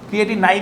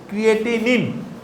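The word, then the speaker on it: Creatinine: Serum ক্রিয়েটিনিন, ক্রিয়েটিনাইন না কিন্তু, ক্রিয়েটিনিন, অনেকে বলে ক্রিয়েটিনাইন।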